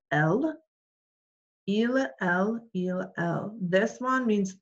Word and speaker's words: elles: Okay, and then the last one right here is ils and elles. We don't pronounce the S, so it would still be il, elle.